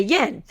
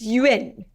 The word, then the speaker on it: yen: different way that's not I always hear people say Yen and so I was like I'm going to learn how to say this correctly and it was like You' been you been and so I was like I'm going to say right it's Yin you know a Chinese